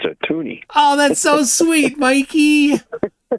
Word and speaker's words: toonie: Well, then it's a toonie. Oh, that's so sweet, Mikey. The whole country. Oh, that's precious. It's a little loony here, a little loony and toony. Like MCToon, it rhymes with MCToon, a little MCToony here.